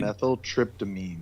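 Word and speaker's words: dimethyltryptamine: element uh the dimethyl tryptoline where am I pronouncing that correctly or is it more like dimethyl trp dimethyl tryptamine thank you dimethyl tryptamine thank you the DMT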